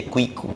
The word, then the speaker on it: Kiko: Ele mudou o nome do personagem, que se eu não me engano começava com Q-U-I, que é Kiko, como se fala, que saiu com K-I-K-O.